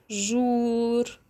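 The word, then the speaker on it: jour: لو عندي كده حرف ال او او او هنطقه ازاي جوه الكلمات او او زي كلمه يوم يعني لو عايزه اقول يوم هقول جور جور يبقى يعني ايه يوم جور يبقى يوم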